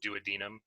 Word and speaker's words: duodenum: duodenum i think yeah the duodenum you may also hear pronounced duodenum i don't really like it that way but it is an acceptable one and what enters there